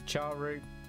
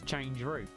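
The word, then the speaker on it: chroot: It's char root. There's always going to be char root. But it's change root.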